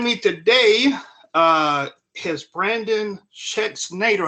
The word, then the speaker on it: Schexnayder: below and joining me today uh has Brandon checks Nader how about pronounced your name right oh man I appreciate it check Snyder but yeah um but anyways Brandon and welcome